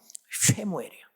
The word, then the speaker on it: 쉐무엘: 원래 사무엘이라는 그 히브리 말로서는 발음이 쉽지 않네요. 쉐무엘이에요.